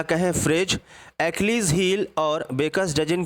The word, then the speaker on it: Achilles: जैसा कि आप स्क्रीन पे देख रहे हैं, ये एक तरह का नाउन है और उसका जो प्रोनाउंसिएशन है एचलीज मत पढ़ना, क्या पढ़ना आप, एक्लीज, जिसका मतलब है अ